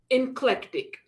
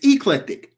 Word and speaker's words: eclectic: in the face and said, "Inclectic." She said, "It's eclectic."